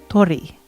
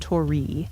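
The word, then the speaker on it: 鳥: The R sounds kind of the mix between an R and an L. Like uh what's a word that would have that? Oh, they should have examples up here. Tori. bird. It's not tori, it's tori. So it's kind so bird tori. It's the re part, the r i part.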